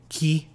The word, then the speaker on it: chi: they uh spell words so when you see Chi it will be key when you say see